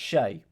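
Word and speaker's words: Shea: Pronounced Shay. Of course it is. Why didn't they write it like that?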